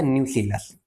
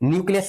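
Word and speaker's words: nucellus: इनका नाम होता है न्यूलस न्यूस है भाई ये न्यूक्लियस नहीं है देखो स्पेलिंग ये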